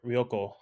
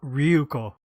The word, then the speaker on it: Ryuko: you had read uh roko um it's Ryo we always say it wrong Ru sorry say it again Ryo Ryo okay say it again ruo not R Ryu ryuko ryuko yes I swear I said